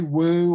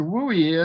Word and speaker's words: WUE: true well guess what it's pronounced so don't say woo or whoa or what okay and what the wooie is is tuition reduction